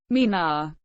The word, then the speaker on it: Meena: the Mina pronounced Mina is a tribe found mainly in the rajastan